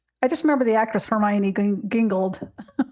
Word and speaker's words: Hermione: Daydreamer saying, "My grade school teacher pronounced Hermione." Hermoine hermoine. Hermoine. Okay, that's off topic, but Hermione is one of my